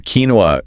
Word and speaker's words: quinoa: It originates from Ketwa, you know, the language spoken in the Andes. It came into English via Spanish. So, it follows none of the typical English spelling sound rules at all. The nugget here is some words are pure imports and you just have to learn their sound by listening. Don't trust the spelling. So, for quinoa, trust your ears, not your eyes.